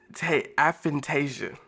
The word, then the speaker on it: aphantasia: which I think I'm saying it right a aphantasia not anasia a aant 8 this Reddit thread on aphantasia